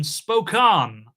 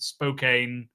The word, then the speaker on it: Spokane: Uh flamingo and then spokan I believe it's pronounced although I've already in the uh green room said spcane spokan spokane all the variations but I believe it's spokan.